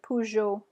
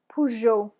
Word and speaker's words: Peugeot: car and that's a pleasure so go ahead Puyo Puyo good Pujo all right a nice picture of a Peugeot